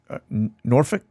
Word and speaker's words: Norfolk: notice the boxes kind of intersect here between Norfolk Norfolk sorry uh I was told I was mispronouncing it all this time so uh hopefully